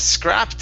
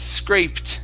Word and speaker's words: scraped: uh next up is scraped instead of scrapped up it's scraped scraped up it's great scraped up